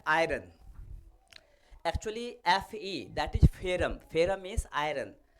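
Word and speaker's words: ferrum: Actually Fe that is फेरम, फेरम means iron, या उसका pronunciation Mumbai में महाराष्ट्र में आयन भी बोलते हैं, आयन बेसिकली आयरन या आयन।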